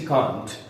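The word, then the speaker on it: can't: शी कांट और शी कैंट। British pronunciation कांट और American में क्या पढ़ा जाता है? आई कैंट। तो शी कैंट जज द थिंग्स प्रॉपरली।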